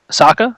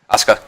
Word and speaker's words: Asuka: to to say her name because I always mispronounce it Saka yep Asuka ASA wow I even failed that fail class